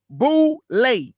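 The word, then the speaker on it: Boulé: The boule, an acronym for Sigma Phi Phi, and pronounced boule, was formed to bring together a select group of educated Black men and women, fashioned after the Yale Skull and Bones.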